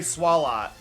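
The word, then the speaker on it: Swalot: I say swallow. I'm sure a lot of people say swallot. But that's swallow to me. That feels like a silent t.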